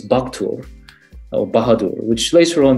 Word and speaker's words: Modu: before module or well his name is not actually modu it's again you know the original old chinese uh pronunciation was something close to baktur so that's which is of course because the m used to be a b right so um